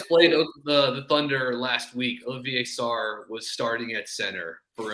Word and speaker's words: Olivier Sarr: Former Wake Forest and Kentucky Star center Olivier Sarr now plays in the NBA. Or as Matt Jones pronounces his name, Oliver Sarr. Yeah, there's He's from France, so not how it's said.